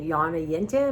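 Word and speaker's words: Jonna Jint: it's fascinating and then Yana yint which is j o n n a j i n t um o n and she's Swedish and the J's are pronounced like a y so and her she's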